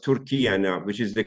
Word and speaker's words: Türkiye: two names you have the same name but pronounced tury now which is the correct way of Turkish